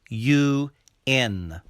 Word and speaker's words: UN: a u n treaty u n also starts with the consonant y sound u n and is used before